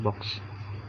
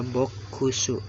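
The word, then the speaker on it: ボックス: Tapi dibaca Jepangnya gini, box. Dia agak ditahan di ku-nya dan dia lebur ke su. Karena apa ya? Karena kalau dibaca ada ku-nya, jadi tidak apa ya, tidak sejalan dengan bahasa aslinya yaitu bahasa Inggris. Masa bokusu, harusnya kan box gitu.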